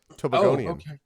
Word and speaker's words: Tobagonian: Tobagonian.